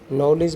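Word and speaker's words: knowledge: तो यहाँ पर डाउट में हमारा बी साइलेंट है, राइट में हमारा डब्ल्यू साइलेंट है, नॉलेज में हमारा के साइलेंट है।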